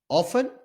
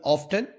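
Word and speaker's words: often: गो एंड हाउ ऑफ ऑफ या ऑफ्टन दोनों ठीक है दोनों तरीको से आप इसको प्रोनाउंस कर सकते हैं वे ऑल डज ही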